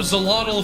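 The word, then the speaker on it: Xolotl: Um, can you give us a fun fact about the god uh Zolator Zolottle? Oh, Zelottle from Aztec myth uh is spelled with an X.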